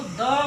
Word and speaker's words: the: बी, सी, डी, ई, एफ जो जेड तक होते हैं, ऐसे कॉन्सोनेंट के साथ अगर जो आर्टिकल द का यूज किया गया है, तो हम उसको द प्रोनाउंस करेंगे।